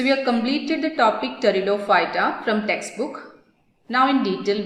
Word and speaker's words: Pteridophyta: Here you have to understand, we are writing the spelling P-T-E-R-I-D-O-P-H-Y-T-A, but the pronunciation is pterido. P is silent there.